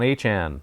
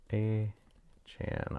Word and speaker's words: Achane: Devon Achane, one of the hardest names to pronounce. That's what I was told today, and that's how you pronounce it, so I'm going with it, right?